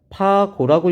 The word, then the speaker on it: 파고: 자, 마루에서 골까지는요. 여기서 배우진 않지만 파고라고 읽어요. 파고. 그러니까 진폭은요.